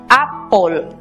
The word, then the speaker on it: apple: Recordemos que al no tener sonido la E, matizamos las dos consonantes que nos quedan con el sonido O, apple.